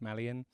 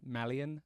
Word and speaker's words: Malyan: channel which you can find me again either malan drum or just my name malan I've also got a few other socials that you can find me on in your place of choosing on Instagram it's malan and that's spelled m a l y a